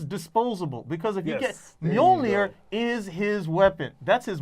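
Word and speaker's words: Mjölnir: No, you're just mispronouncing it. You know. Male joiner. It's like me saying, instead of saying big business, I'm saying no. You have to say it, pronounce it correctly. It's Mjolnir.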